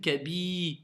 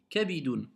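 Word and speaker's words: كبد: Il y a une différence entre I, voyelle longue, et I. Moi, je lis Kabidun. D'accord? Tu comprends? Kabidun. Il n'y a pas de ya après le bi pour dire Kabi.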